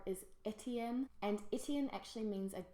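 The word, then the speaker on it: Étienne: what's important is that in English it really preserves its French pronunciation. And I just think in English it sounds really classy. Etienne.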